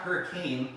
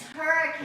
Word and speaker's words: Hurricane: It's not, when you're in Utah, it's not hurricane. It's hurricane. It's hurricane. That's right. You got to say it right.